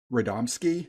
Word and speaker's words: Radomski: got to start with Bruce Tim and Eric radomski yeah that's how you say it and they're